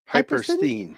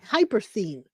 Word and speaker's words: Hypersthene: Hypersthene. Hypersthene. I can't pronounce it. Hyperthene. Like hypers. And then thene.